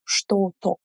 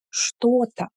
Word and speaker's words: что-то: We don't emphasize то. We don't say кто-то, что-то. We say кто-то, что-то.